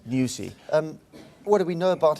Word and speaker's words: Nyusi: What do we know of the potential incumbent, Felipe, how do you pronounce it, Nyusi? Nyusi.